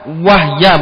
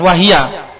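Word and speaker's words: وَهْيَ: Wahya bacanya jangan wahiya.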